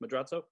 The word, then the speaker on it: Madrazo: Well, and you bring up the cinematography is exceptional in the film, and Gerardo Madrazo, is that how it's pronounced, Madrazo?